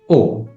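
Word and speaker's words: お: And the next character is O, which is pronounced as O.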